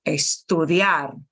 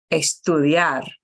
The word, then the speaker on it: estudiar: of my keyboard sorry any verb that starts with an s t in English or an SP Spanish can't do that notice that the word for Spanish is Espanol anything that's an SP at the beginning of a word or anything that's an st like study has to have an e in front of it okay so